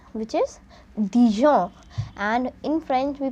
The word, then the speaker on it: Dijon: is d i j o l which is Dijon and in French we pronounce the separate letters are e g o